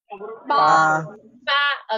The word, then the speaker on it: 八: How to say eight in Chinese? Ba. Okay. And this ba. One, make fortune. The pronunciation is fa, very similar, right?